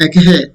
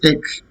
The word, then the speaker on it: ache: It's not ache. H. It's ache.